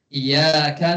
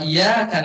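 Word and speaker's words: إِيَّاكَ: Tapi kalau tasidnya hilang iyaka na'budu wa iyaka nastain. Kebetulan nih lagi apes. Iya itu ada maknanya artinya cahaya. Cahaya matahari. Kira-kira kalau kita bacanya iaka naudu iaka apa? Kepada cahaya mataharimu nabudu wa eh sor yang salah. Wa iyaka nastain. Berarti kepada cahaya mataharimu kami memohon pertolongan. Salah baca beda jauh bertentangan ya.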